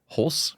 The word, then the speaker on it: Holst: Please welcome Hulse.